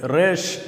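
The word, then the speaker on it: ריש: எழுதி அப்படியே கீழ இறக்கிறோம் இந்த எழுத்தை ரேஷ் அப்படின்னு உச்சரிக்கிறோம் இந்த எழுத்தின் அர்த்தம் பின்னந்தலை அதாவது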